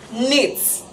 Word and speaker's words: knit: word we have is knits knits knit not knits knit is wrong because the k is silent so the word is